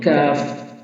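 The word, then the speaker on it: كاف: একটু সামনে উপরের তালু জিহ্বার গোড়া থেকে একটু সামনে উপরের তালু জিহ্বার গোড়া আর উপরে সামনে তালু লাগালে কাফ হরফটি উচ্চারণ হবে কাফ কাফ কাফ এবার হচ্ছে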